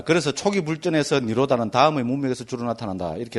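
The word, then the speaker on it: nirodha: 그대로 읽어버리면 됩니다. 니로다. D, D에 뭐 이런데 H 나온 거는 발음 안 해버리면 됩니다. 그 니로다. 이래 하면 됩니다.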